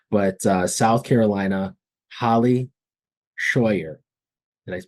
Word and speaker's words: Shawyer: too great uh but uh South Carolina Holly Shyer did I pronounce that correct H awesome awesome thanks for